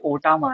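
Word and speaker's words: Otama: Then actually sorry but मैंने गलत pronounce करा था कब से वो टामा नहीं थी ओटामा है।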